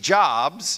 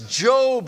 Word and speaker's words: Job: And again, this is not Steve Jobs. It's not that. This is Job is how we pronounce it.